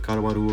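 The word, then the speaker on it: Caruaru: I'm in the city of Kawaru right now. It's spelled C A R U A R U.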